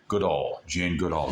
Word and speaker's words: Goodall: the animals, look at Jane Goodall. And some pronounce it probably more correctly, Jane Goodall.